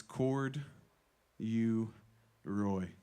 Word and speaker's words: Corduroy: spell corduroys very simple it's three syllables it's cord you Roy there's only three syllables there's nothing weird so